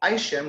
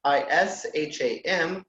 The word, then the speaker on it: Isham: name it's Isham which is so is H a.m. which is basically is am but pronounced Isham so all together